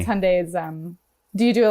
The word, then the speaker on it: Hyundai: done i've pitched on hyundai which is why i know it it rhymes with sunday and it's not hyundai drives me crazy hyundai